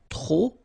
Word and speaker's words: trop: Okay, remember, too many, trop, don't pronounce the final P.